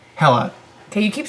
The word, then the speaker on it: Hela: It's not pronounced like Hela or it's Hela. Like hella cool.